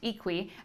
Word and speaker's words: IQUI: san francisco to tell you all about the equi 360 degree camera that's iq ui but pronounced equi it's by the company vectnos and vectors actually